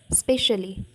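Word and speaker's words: specially: unmindful अन्य मनस्कता okay स्पेशली एठी ईटा silent रहबो ई एस पी ई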